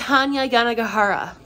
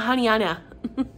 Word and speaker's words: Hanya Yanagihara: throughout this entire video her name is hanya yanagihara not hanyana hanya yanagahara that's all